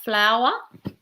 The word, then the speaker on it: flour: tricky there may be flour so your pronunciation is that the same as like a flower in the garden you pronounce it the same way but flour is and